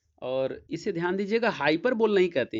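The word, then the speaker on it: hyperbole: तो इसको आप हाइपर बोल नहीं पढ़ेंगे, इसको हाइपरबली कहते हैं, ठीक है।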